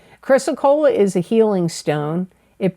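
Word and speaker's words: chrysocolla: y s o c o l l a chrysocola chrysocola is a healing stone it brings Tranquility peace intuition patience and unconditional love chrysocola can strengthen the body's resistance to illness and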